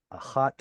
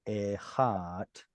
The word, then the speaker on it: אחת: By adding a feminine tav, dalet and tav are both pronounced in the same place in the mouth. They assimilate very easily. And so we get simply achat or echat in the pausal.